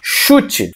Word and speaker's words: chute: Chute. Você percebe que, graficamente, C-H-U-T-E, 5 letras. Porém, temos mais um dígrafo e um CH. Por quê? CH tem som agora de X.